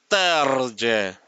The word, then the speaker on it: Terje: But we double check with Terje and he said the J is pronounced as J. So it's Terje. Terje Bradberg. He said it's pronounced like that. So we asked him how to pronounce his name.